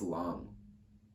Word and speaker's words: Lang: It is knit with Lang, probably pronounced Long. I think it's a German brand, but I feel like I am used to hearing people say it with like an American accent, Lang. So whatever.